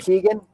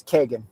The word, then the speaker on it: Kegan: So most people pronounce the name Kegan, but the traditional Irish pronunciation of the name is Kegan.